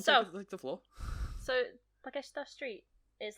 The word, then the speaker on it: Takeshita: Or Well, the first thing I wrote about is Takeshita Street. Right? Yeah. Takeshita. Yeah. Takeshita. That one. Shita together is Shita. pronounced shita. So it's Takeshita.